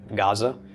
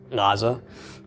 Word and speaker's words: Gaza: So it's responsible for names like Gaza. It's actually Gaza.